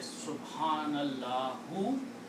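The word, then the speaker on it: سبحان الله: Subhanallahu. You stop. You say Subhanallah. You do not pronounce the last letters harkat.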